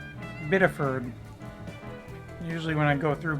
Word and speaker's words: Biddeford: It's called, Biddeford. Usually when I go through Biddeford on the highway, I jokingly call it Biddefed.